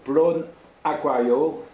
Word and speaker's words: Plonaquario: Et pour que Plone se prononce Plone, il fallait qu'on mette une voyelle derrière, sinon ça fait plomb. Donc il fallait à tout prix qu'il y ait une voyelle, et on a trouvé Plone Aquario, qui fait qu'on prononce bien Plone.